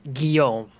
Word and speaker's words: Guillaume: like gully right sure it's it's guillaume so it's space okay really easy got it yup thank you you could say gully too people say gully gully's face yeah people say just gully for for free because they don't know how to pronounce it right because it's oh yeah